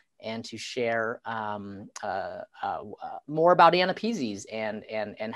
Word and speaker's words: AANAPISI: And so if you have trouble pronouncing it, I usually say, think of it like a person's name. The person's first name is Anna and their last name is Peasy.